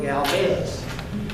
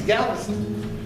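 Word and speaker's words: Gálvez: his name I I all my life I was pronouncing berardo galz but they don't call it galz town it's Galvis his name was Galvis accents on the on the first syllable so I've been trying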